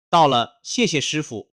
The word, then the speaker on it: 到了: "到" se pronuncia nítidamente en el cuarto tono, "了" se pronuncia en un tono ligero; "谢谢" se pronuncia con dos cuartos tonos seguidos de un tono ligero.